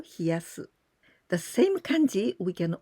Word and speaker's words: 冷やす: So in this case, we use the same kanji, but here we pronounce hieru or hiyasu.